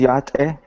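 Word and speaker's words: Yá'át'ééh: a conference hey on this photo can you pronounce the word on the right on the right says yate that means uh welcome or hello it's a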